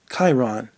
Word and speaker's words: Chiron: I got his name wrong. Chiron. That's what it is. Chiron. People were emailing me. I got the name wrong, and they really lambasted me. I should have looked that up. It's Chiron.